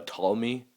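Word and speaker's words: Ptolemy: it is pronounced uh tmy the p is silent um uh Tommy is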